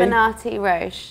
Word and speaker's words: Libonatti-Roche: Libonatti-Roche.